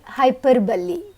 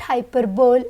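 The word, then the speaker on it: hyperbole: अब नेक्स्ट है हाइपरबली। इसका भी कई बार प्रोनाउंसिएशन स्टूडेंट्स गलत करते हैं। This is नॉट हाइपरबोल, इट्स हाइपरबली।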